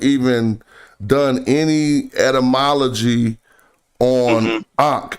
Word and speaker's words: Ankh: For us, Ankh, how you guys are pronouncing Ankh, it's like, it sounds weird to us because what we would say is Enga, and it breaks down to 4 different meanings.